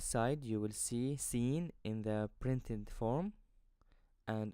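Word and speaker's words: سين: with the first one which is seen seen the letter scene is like the English S as in the word c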